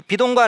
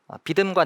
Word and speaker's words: 비돔: 이 비돔과 라암셋, 이거 발음을 좀 잘 하셔야 되는데요. 비듬과 남셋이 아니고 역시 재미가 없네요.